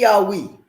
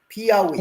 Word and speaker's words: Piauí: Piauí. Ex- There you go. I had a friend of mine. She used to tell me, think of a dog. Ow, ow, ow. Piauí. And then I got the pronunciation.